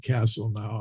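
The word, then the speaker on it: Castelnau: discoveries from Southern France it's a place called c-a-s-t-e-l-n-a-w I I pronounce it Castle now I don't know if that's right French pronunciation or not but uh there in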